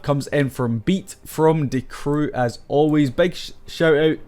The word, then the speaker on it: Die Crew: in from beat from D crew as always big shout out to ahead of the guy that told me it was D crew not die crew I don't even know